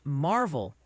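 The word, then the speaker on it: Maryville: Oh, and quick heads up from the pronunciation patrol. Triana alas is apparently Triana and Mville, Tennessee is Marvel.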